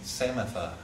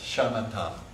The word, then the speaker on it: shamatha: my mind I'm saying samatha or something like that. I'm trying to learn samatha, okay? So we like to put all of the letters in there that you pronounce, shamatha, all right, or shiney in Tibetan.